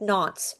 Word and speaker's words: Nantes: But the Edict of Nantes, I think Nantes is how you say it, Nantes, was signed by King Henry IV of France in 1598.